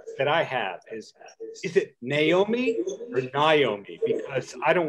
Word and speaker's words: Naomi: So it's actually Naomi, like a horse. I used to be teased for that a little bit, but yeah, it's Naomi.